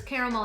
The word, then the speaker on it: caramel: caramel and caramel interchangeably I said caramel growing up that's what we said in Texas I live in the midwest now and everybody says caramel here so it went from a two- syllable word to a three- syllable word it is what it